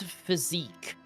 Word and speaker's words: physique: First of all, that is physique. That is physique.